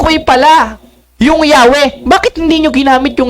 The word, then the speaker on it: Yahweh: While inclining to the view of pronunciation Yahweh, the more correct way we have retained the form. Anong sabi? Jehovah. Ngayon, anong sabi sa kanilang aklat? The more correct way is Yahweh than Jehovah.